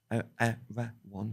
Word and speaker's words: Erewhon: This book's called Erewhon, Erewhon, Erewhon, 3 syllables, written by Samuel Butler.